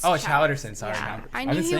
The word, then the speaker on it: Chaus: It's Chowderson.